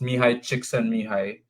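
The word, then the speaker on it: Mihaly Csikszentmihalyi: But it's pronounced Mihai Csikszentmihalyi, and the book is called Flow.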